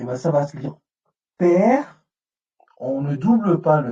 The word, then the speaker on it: pr: Donc, on va le lire père, en mettant un E muet entre deux.